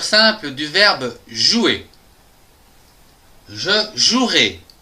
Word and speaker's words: jouerai: du verbe jouer je jouerai attention ici il y a un e qu'on ne prononce pas demain je jouerai demain